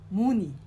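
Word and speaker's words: 문의: we but but we link the n sound so we'll pronounce it as muni muni muni is to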